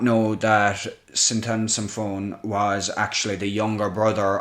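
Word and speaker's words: Sinthasomphone: I was trying to figure out how to pronounce that earlier. I googled it, and that's what it told me it was. Syntasamphone.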